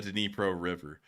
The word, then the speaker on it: Dnipro: beginning of the war, we actually called it the Dnieper River, and then people said that was the Russian pronunciation, so we moved it on into the Dnipro River.